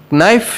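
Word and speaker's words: knife: नाइफ शब्द में के साइलेंट है।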